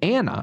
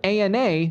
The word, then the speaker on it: ANA: Acronym that Ethan pronounces Anna instead of ANA, like most every medical professional does.